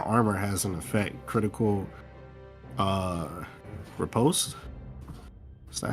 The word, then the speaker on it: riposte: Yes, I was reading my armor has an effect, critical riposte.